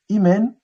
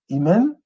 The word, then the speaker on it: Imen: Amon-Ra, ça s'écrit Imen, Imen avec un soleil à côté. Donc, le terme que vous voyez là, Imen, ça veut dire Amon en fait.